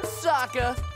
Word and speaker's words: Sokka: That's right, I'm Sokka. It's pronounced with an akka.